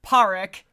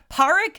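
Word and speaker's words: Pádraic: So, yeah, you've got Colin Frell's character, Paric, and that's that's how they say it. It's spelled very differently. They're very Celtic. Parrick Sulawan, which is Sulu Sulan, which is Sullivan, give or take.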